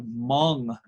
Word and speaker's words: Hmong: about a family of Hmong people. That's this word right here. You kind of don't pronounce the H.